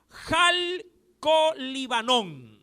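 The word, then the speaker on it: χαλκολίβανον: de la terminología griega jal con líbano y le dije que es un poquito difícil lo repito jal con jota al viene con acá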